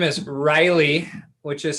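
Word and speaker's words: Ryleigh: Her name is Riley, which is spelled R-Y-L-E-I-G-H, which is the street we live on.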